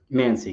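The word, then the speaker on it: Mansi: How do you pronounce her last name? Because I'm bad with names. Mancy, Kate Mancy.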